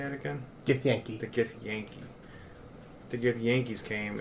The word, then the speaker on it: Githyanki: Githyanki.